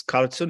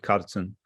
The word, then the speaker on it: Kartson: few minutes ago it it is made of two names karma and sundro so you take the first syllable for each name and you come up with cartoon i was born in